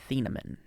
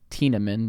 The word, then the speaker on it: Thieneman: Dylan Thieneman. I would have said like Tieneman because of like. TH makes a T sound?